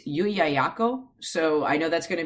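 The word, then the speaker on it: Llullaillaco: So in Spanish, Yuyayako. Wow. If you're speaking English and don't know any Spanish, it's Lululula. But no, they were Incan,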